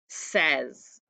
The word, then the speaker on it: says: suffix at the end S at the beginning is not tricky either it's the middle it sounds like e but that's not how it's spelled so look those up